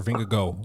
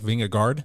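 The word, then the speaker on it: Vingegaard: mean that's but Ving is it vingard or vingo I think it looks like vingard it'sing but it's pronounced vingo that's whato vingo vingoo according to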